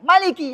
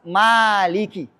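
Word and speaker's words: مَالِكِ: Enggak boleh Maliki, harus Maliki. Kalau baca riwayat yang lain yang pendek, contohnya Imam As-Susi, baca pendek, nggak boleh panjang. Bacanya Maliki Yaumiddin.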